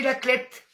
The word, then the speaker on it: La Clayette: Alors, ça s'écrit la Clayette. Coucou, ma petite Lolo. Et on dit la Clette.